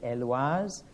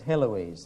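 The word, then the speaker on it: Héloïse: now i don't know the french pronunciation would be eloise she's often anglicized as heloise so you pays your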